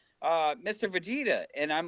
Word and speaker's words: Vegeta: Just like it sounds.